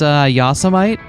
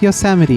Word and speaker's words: Yosemite: I think it's Yosemite? No, common mistake really. It's Yosemite, but that's an easy mistake that anyone could make, and it's not embarrassing.